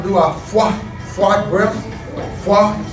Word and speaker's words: Phwah: Phwah, I spell it P-H-W-A-H. Phwah. You make this sound, it's a magical sound, like a kung fu sound, like a karate sound.